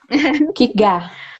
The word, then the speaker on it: Kierkegaard: Não sei falar esse nome direito, Epa, mas Kigar, Kigar. Não Kierkegaard. pronuncia o R e o D, Kigar.